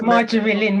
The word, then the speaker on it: Marjorie Lynn: It's Marjorie Lynn was probably my name. Yeah. Marjorie Lynn. Marjorie Lynn. Yeah. Oh, Marjorie Lynn. Just Lynn on the end of Marjorie.